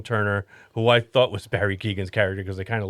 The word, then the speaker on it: Barry Keoghan: Yeah, Barry Keoghan.